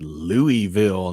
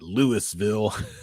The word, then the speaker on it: Louisville: knew that would happen it's pronounced louisville not lewisville let's see if anybody